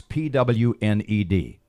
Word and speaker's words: pwned: a computer term and it's spelled like owned only it's pwn Edie and they say pwned have you seen that